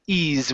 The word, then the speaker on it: ease: easier same thing here this is ease with a z sound the ease e e